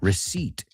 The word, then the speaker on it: receipt: Here's another one, con una P muda, receipt.